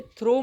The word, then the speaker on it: through: wait थ्रू D tunnel ये थ्रो मतलब फेकने वाला नहीं है थ्रू मानेंगे इसको हल्का सा थ्रू जैसा प्रोनाउंस करेंगे थ्रू डी अब देखिए